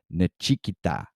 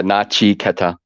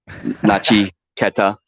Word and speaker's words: Nachiketa: Nechikita. I hope I got that right. Yeah, Nachi Keta is, but you can call me Nach. Nachi is fine. I know it's four syllables. Nachi Keta.